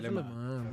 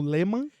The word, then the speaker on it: Léman: Cave Le Mans. Foram 10 minutos ele me ensinando a pronunciar alemão, porque eu tava falando Lehmann.